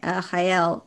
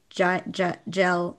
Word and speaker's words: Jael: and the two characters, and I say the other name in this section weirdly too, Hael, but I think a lot of people say Gel, I don't know.